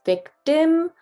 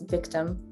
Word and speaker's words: victim: So normally we would pronounce this as victim or victim, really stretching out that I, but really, if we're gonna go for a more international accent, we can pronounce it as victim, victim, victim. That first I actually is an IH sound, and the second I is a U sound, victim.